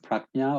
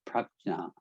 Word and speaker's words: prajna: And lastly, the last kusal thought is called prajna or panna. It's actually pronounced prajna.